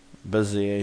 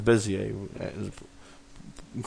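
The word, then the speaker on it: Bézier: uh L linear linear beer beer some say people b i call beer it's bizer correct pronunciation with that but anyway uh and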